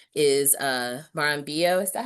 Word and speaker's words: Marambio: Um and then on the right is uh Marambio. Is that how you say it? Moramio.